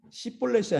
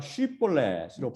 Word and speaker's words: 쉬볼렛: 시볼렛이 아니라 쉬볼렛으로 발음할 수 있다는 거죠.